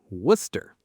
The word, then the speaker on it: Worcester: Worcester.